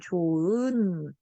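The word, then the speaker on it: 좋은: 당연히 조흔이래? 아니야, 조은. 이렇게 발음해. 자, 히읗이라는 발음이 어때? 그냥 그대로 사라졌단 말이야.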